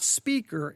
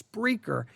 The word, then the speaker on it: Spreaker: It's not speaker, it's Spreaker.